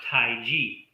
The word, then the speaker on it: Taiji: pronounced Tai Chi.